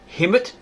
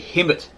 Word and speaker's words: Khemet: may have been called Hemet, because the K is silent, right? You got Khemet. Some say it's Kemet, so you Kemet and all that sort of stuff, but it's actually Hemet.